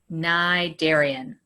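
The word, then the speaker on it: Cnidarian: my favorite one it doesn't even sound like it's spelled you don't say the c let's say it together again naidarian we're going to learn what characteristics a nigeria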